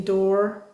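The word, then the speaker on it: Doerr: For example Anthony door that's how you say his name.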